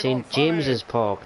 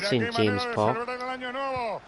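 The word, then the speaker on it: St James' Park: But it's pronounced St. James's Park, not St. James Park.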